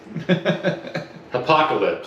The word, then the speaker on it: Hopocalypse: Hopocalypse. Apocalypse. I just like Apocalypse. Reddit, bad design, just horrible. It's literally the word apocalypse Yeah. with an H in front of it.